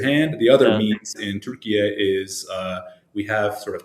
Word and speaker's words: Türkiye: Türkiye is the right way to pronounce it. That's how people from Turkey pronounce it.